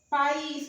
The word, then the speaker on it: país: Porque o I é tônico, forma um hiato aqui, ó. Não fica na mesma sílaba.